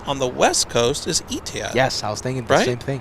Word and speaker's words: Etihad: I think the only Middle Eastern carrier that we have not yet seen on the West Coast is Etihad.